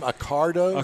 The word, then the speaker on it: Accardo: I got the nickname is your last name Accardo Accardo yes well naturally Mars would